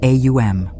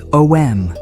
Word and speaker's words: Om: some people say OM, while others say AUM. AUM is useful because it reveals the inner structure of the sound. It is made of 3 phonetic movements, A, U, and M. Over time, in pronunciation and common use, this becomes OM.